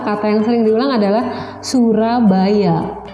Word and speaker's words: Surabaya: Iya, ternyata kata yang sering diulang adalah Surabaya. Tapi karena Surabaya diucapkan oleh native speaker, orang Inggris, orang penutur bahasa Inggris ya, dia bilangnya tidak Surabaya tapi Surabaya.